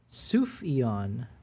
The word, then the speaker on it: Sufjan: Cat and Candle says it's pronounced Sufjan.